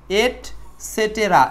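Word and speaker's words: et cetera: এট সেটেরা, এই বানানটা একটু খেয়াল রাখবেন।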